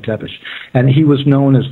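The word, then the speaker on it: Țepeș: tell you in fact that Vlad Pepes is pronounced in their language it's pronounced teish te e p spelled te p s SP lad tepish and he was known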